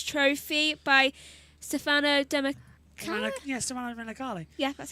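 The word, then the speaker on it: Stefano Domenicali: Yeah, Stefano Demicali.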